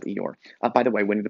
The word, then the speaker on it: Eeyore: today governor governor governor they dropped the r so actually as americans we are mispronouncing eeyore's name the r in eeyore is silent what is your's name